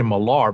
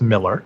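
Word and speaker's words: Millar: in miller's newsletter you know some people say malar but it's actually pronounced miller yeah the writer discussed marvel zombies on the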